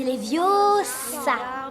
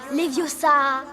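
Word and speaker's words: Leviosa: Et puis d'ailleurs tu ne sais même pas le prononcer. C'est les viosas et pas les viosas.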